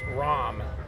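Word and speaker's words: Rahm: Have you ever been to um it's it's pronounced ROM?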